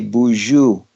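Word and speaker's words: Boozhoo: custom the Anishinabe that when we meet somebody we say Buju and to spell it you know we we didn't have a written language it's Bo o CH oo and and some people are like oh that's from the French Bonjour but it have a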